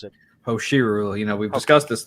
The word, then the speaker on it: Hoshiru: How do you Hosh- pronounce it? Hoshiru.